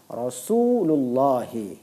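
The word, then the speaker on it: رسول الله: Nah, kemudian di dalam kaidah ini, mudhofun ilaih ini, digabungkanlah dua kata ini menjadi satu. Menjadi satu, sehingga membacanya Rasulullahi, yang bermakna utusan Allah.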